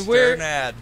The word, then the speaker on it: Strnad: How do you pronounce Strnad. Your last name? Strnad.